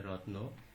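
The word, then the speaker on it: wrong: যেমন ডাব্লিউ আর আই টি E, right, এখানে ডাব্লিউ এর পরে আর হওয়ার কারণে ডাব্লিউ এর উচ্চারণ হয়নি।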